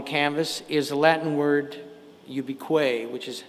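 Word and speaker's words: ubique: And also over on the left like a watermark on the canvas is a Latin word ubiquay which is how it's pronounced in Latin ubiquitous.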